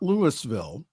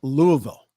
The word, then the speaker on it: Louisville: Louisville shooting it's not Lewisville it's Louisville got to pronounce it all together Louisville the family of the